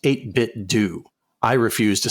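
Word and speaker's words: 8BitDo: kcw creative says the company has said it's pronounced 8bit do I refuse to say it that way so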